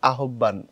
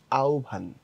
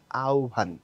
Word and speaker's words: আহ্বান: সময় লেখি হচ্ছে এরকম এটাকে পড়লে অনেকটা শাব্দিকভাবে মনে হবে আহ্বান এই টাইপের কিন্তু এটার শুদ্ধ সঠিক উচ্চারণ যেটা সেটা হচ্ছে এরকম আউভান ঠিক আছে এখানে দন্তন্য নিচে একটা হসন্ত আছে মনে রাখবা এখানে এটা ও এবং এখানে হচ্ছে তোমার ভে উচ্চারণটা করার সময় তোমাকে পড়তে হবে আওভান আওভান ওকে বিটিভির খবরগুলো